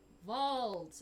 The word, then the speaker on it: Vold: I'm gonna need you to spell that. I Is can't that hear VOL? it that great. VOLD. Vault.